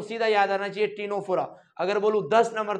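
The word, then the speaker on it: Ctenophora: है अगला आता है टीनो फोरा यहां पर भी सी साइलेंट है भाई अगला आता है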